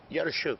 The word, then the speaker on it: Yarashchuk: Is that how I say? Am I getting any better at this? Yarashchuk. Yarashchuk. Yes, your pronunciation is good.